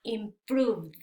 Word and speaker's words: improved: Que este verbo en pasado, al agregarle ed, se va a pronunciar con sonido d al final. Entonces quedaría improved, improved.